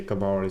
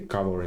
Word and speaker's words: cavalry: I don't know why I keep saying this cavalry because in Bulgarian the stress is on the second syllable you say cavalry. So I apologize for that. Has to be cavalry.